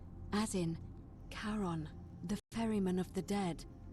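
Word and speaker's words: Charon: you described it only your pronunciation is a little off the name you heard wasn't Karen it was c h a r o n as in Caron the ferryman of the Dead karon who in exchange for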